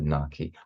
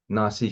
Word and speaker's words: Naxi: It looks like it's supposed to be read ki, na ki. So that's why some people call them the na ki. But this ki is supposed to be read as si.